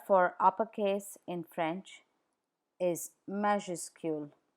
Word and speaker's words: majuscule: uppercase in French is majuscule majuscule majuscule please note that the final s is not pronounced anounced in majuscule let's see where the